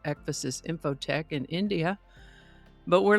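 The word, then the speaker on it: ekphrasis: I would have pronounced it ekphasis, but I found several pronunciation guides that indicated it is pronounced ekphasis. Sort of like emphasis, only with an ek instead of an m.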